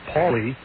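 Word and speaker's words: Pali: welli number 35 Matt Paulie well in steps Matt Paulie Paulie spells his name p a l i but is pronounced Paulie he's the left fielder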